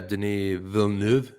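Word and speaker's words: Denis Villeneuve: like being courted yeah Deni Vu am I saying it right he's French it's Deni V oh I didn't [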